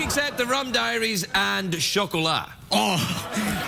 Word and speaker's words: Chocolat: Anything except the Rum Diaries and chocolat. Oh, how do you pronounce that? What? How do you say that word? Chocolat. It's a French word for chocolate.